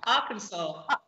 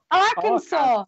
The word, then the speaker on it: Arkansas: And there's a state that's spelled A-R-K-A-N-S-A-S. Ah, Arkansas. Arkansas. Kansas. Yes, Arkansas.